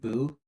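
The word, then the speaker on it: Bud: It's like a fishing town called Buu, but it's spelled B U D.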